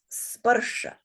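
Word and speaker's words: sparśa: How many syllables in this word? Two? Two. Yes. And how many beats in this word? Two. Two. And why is that? Why only two beats? Oh, short. All short.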